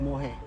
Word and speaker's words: mohair: top made of it's more hair sorry mohair german more hair material how do you spell that m-o-h-a-i-r okay it's not my hair it's more hair okay so yeah and